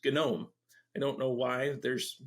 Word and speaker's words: GNOME: the same as mate gnome is spelled the same as gnome like a garden gnome but it's gnome I don't know why